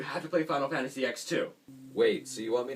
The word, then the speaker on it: X-2: final fantasy x-2 yes i pronounce it final fantasy x-2 not 10 2x2 just sounds a lot better anyways final fantasy x-2